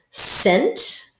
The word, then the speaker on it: cent: Scent, scent, C-E-N-T, scent. This sight syllable you might see at the beginning of century.